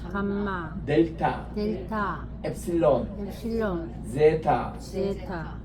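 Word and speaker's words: ζῆτα: 요거는 Z가 들어가는 제타, 요거는 에타, 에가 깁니다.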